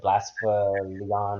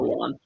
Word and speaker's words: Blacephalon: The Blasphaleon or Something. Blacephalon.